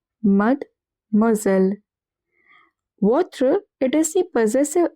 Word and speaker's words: Mademoiselle: Over here the S is in the middle of two vowels. So it is pronounced as Z. And E double L E is pronounced as L. Mademoiselle.